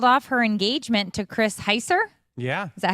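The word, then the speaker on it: Chris Heisser: Heather Locklear has called off her engagement to Chris Heiser.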